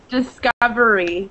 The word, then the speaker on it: discovery: Discovery. Be careful with your R. You rolled your R when you read it, but that's okay.